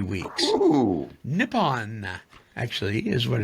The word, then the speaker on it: Nippon: Nippon, actually, is what it's pronounced. Nippon.